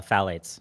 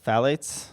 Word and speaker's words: phthalates: pronounce that phth uh phthalates phthalates yeah oh so the second th is just meaningless phthalates are a large